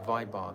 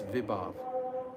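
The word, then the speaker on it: vibhāva: so many years ago I mispronounce this word viab every single time I say viar it's not viar it's viav I've just for some reason or other I've mispronounced it the whole way through it's viav viav anob SATA and vachari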